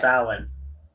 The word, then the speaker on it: Samhain: It should be spelled with a W at least. Samhain is the way it should say. It's Samhain.